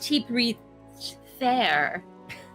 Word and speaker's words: Typewriter: It's pronounced Tippy Fair.